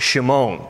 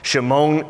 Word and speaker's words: Shimon: addresses him by name simon in hebrew his name would be pronounced shimon shimon in hebrew means to